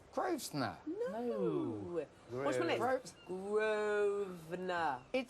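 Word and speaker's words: Grosvenor: You don't pronounce the S. Groves. No, Grovener.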